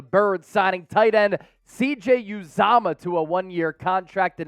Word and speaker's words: Uzomah: Ian Rapoport, NFL Network, breaking the news just moments ago on this Thursday afternoon that CJ Uzomah, yes, that's the correct pronunciation, I looked it up, he said it